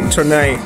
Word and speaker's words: Tournai: Yeah, siege of how do you pronounce that? Tournai.